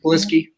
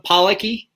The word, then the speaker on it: Polisky: Polisky? That's how you say it? Mm-hmm. Polisky. Yeah. All these years have you been calling him Policky?